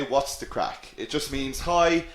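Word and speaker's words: craic: this what's the crack okay this word here crack it is just pronounced like c or a c k crack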